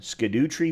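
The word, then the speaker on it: Scadutree: process of finding the apparently you can either pronounce them skadut Tre fragments or Shadow tree fragments and the reason why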